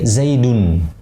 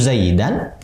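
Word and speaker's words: زيدٌ: Isim mufrad tanda rofanya dhammah, berarti kita pakai Zaidun. Zaidun. Ya. Kalau kita bilang yajlisu Zaidan, nah berarti salah pengucapannya.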